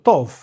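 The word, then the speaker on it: טוב: Cuando dice Tov, ¿pueden pronunciar eso? Tov.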